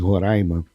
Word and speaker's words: Roraima: É Roraima, né? Que a pronúncia. Aprendi isso quando eu cheguei lá. Roraima. É porque aqui em São Paulo a gente fala Roraima. Roraima. Aí você fala Roraima, mas com brava. É Roraima a pronúncia.